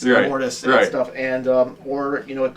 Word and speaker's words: Immortus: I keep saying his name's Ignoramus. It's Immortus. Immortus and stuff, and or